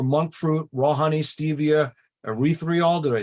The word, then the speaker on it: erythritol: And instead, we're going to look for monk fruit, raw honey, stevia, erythritol. Did I say that right? Yeah, Right? I like that one. Say it again. Erythritol. Erythritol. Right. Sounds like urethra, but we're gonna every